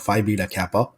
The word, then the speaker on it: Phi Beta Kappa: the point that you were a member of Phi Beta Kappa, Hmm. if I am pronouncing that correctly.